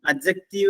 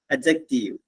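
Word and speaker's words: adjective: ഈ ഡി ഇല്ലേ, അവിടുത്തെ ഡി സൗണ്ട് ചെയ്യാൻ പാടില്ല, അൺസൗണ്ടഡ് ആണ്. അഡ്ജക്റ്റീവ് എന്നേ പറയാവൂ. അഡ്ജക്റ്റീവ്.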